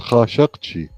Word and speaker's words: Khashoggi: go ahead madness you you pronounce it I think it's pronounced Hachi and I think he's related